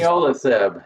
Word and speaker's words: leniolisib: I cannot seem to pronounce it. Leniolisib, yeah.